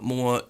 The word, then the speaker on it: Mooer: see on Mooer pedals, this is how you say it, by the way, Mooer, not Mooer or Mooer or Mooer or any kind of variations I frequently do. It's more like, more. Less, more, but they're not less, they're more.